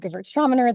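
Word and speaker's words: Gewürztraminer: If you've heard it called Gewurztraminer, that's kind of the way the British pronounce it.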